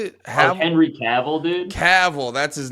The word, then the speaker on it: Cavill: Hamill? Or how do you say it? Oh, Henry Cavill, dude.